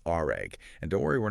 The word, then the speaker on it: RAG: It's all thanks to this new approach called RAG. And don't worry, we're not talking about cleaning up spills. Oh. It's pronounced just like the word rag.